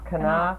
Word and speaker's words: Knopf: Knopf. You talk good, Carolyn. That's Knopf. I don't know how I can pronounce it.